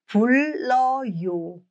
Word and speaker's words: 불러요: When two r meet, one in the bachim and one as the initial consonant of the next syllable, they both are pronounced as l.